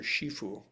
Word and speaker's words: Shifu: Um and it's so if you ever saw kung fu panda master shifue. So that's the Mandarin pronunciation of the same term.